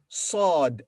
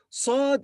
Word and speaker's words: ص: it's written like this sod as you hear the sound of sod is similar to the sound of seeing but more emphatic and darker sod is pronounced with a full mouth this litter doesn't have